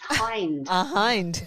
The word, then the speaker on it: Hind: today we've got hind i hope i've pronounced your surname correctly you've pronounced it incorrectly but you would not be the only one it's hind okay so thank you